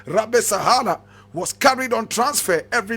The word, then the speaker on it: Rabesahala: Rabesahala is Rabesahala.